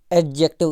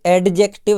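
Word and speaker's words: adjective: ये डी यहाँ पे साइलेंट रहता है, और जा को यानी जे को थोड़ा सा जोर दे के बोलना पड़ता है। एडजेक्टिव, है ना। तो वैसे ही जो हम एडजस्ट करना बोलते हैं ना, वो एडजस्ट करना नहीं होता है, एडजस्ट करना होता है। ऐसे ये एडजेक्टिव है, वो एडजस्ट करना है। तो डी साइलेंट रहता है यहाँ पे।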